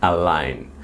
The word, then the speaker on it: align: I know you can see the letter G, but it doesn't it's mute. It doesn't pronounce you don't pronounce it. Okay? Align. A line.